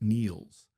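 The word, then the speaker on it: Niels: He pronounced it Neil's with a long vowel and a softness at the end.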